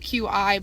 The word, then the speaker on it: Qi: Now in the upgrade package, we also offer our Qi wireless charging. Now I like to call it QI, but I've been told it's pronounced Qi, but it's in most Samsung devices now.